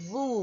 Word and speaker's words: vous: Like Winnie the Pooh, we say nous and vous. Alright, please note that pronunciation, okay? So nous, nous, nous. Like N-O-O, probably H at the end.